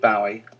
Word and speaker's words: Bowie: going to use an American version of his pronunciation buoy as opposed to the British pronunciation Bowie you'll hear in a rear segment they pronounce it Bowie but in true David buoy fashion he pronounced it Bowie but he allowed us Americans to do it